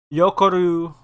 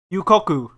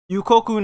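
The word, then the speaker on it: Yūkoku: one for sure um yokoru yeah no it's not you coco yukoku there we go yeah i can't pronounce japanese yukoku no moriarty in the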